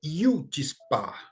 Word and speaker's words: chutzpah: europeus e diz né então a pronúncia correta é Yudi Spa eu vi várias pronúncias